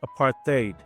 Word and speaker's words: apartheid: They used the resources of power to enforce a system called Apartheid, which is pronounced apartheid, the separation of the races.